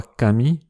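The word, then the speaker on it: 上: Ce kanji, qui veut dire en haut, se prononce ue ou parfois kami, mais aussi jo dans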